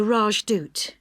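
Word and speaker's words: Rajdoot: in weatherfield is supposed to be excellent the rajdut oh how do you spell that r a j d o o t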